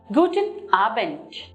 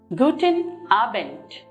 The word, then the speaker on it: Guten Abend: Guten Abend. Here too, when you look at the word Abend, the word ends with D, but we do not take the D pronunciation, but we end it as T.